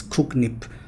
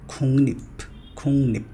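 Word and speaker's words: 국립: The most common incorrect pronunciation of this word is kuknip, but it's not kuknip, it's kungnip. Next one, it's papta.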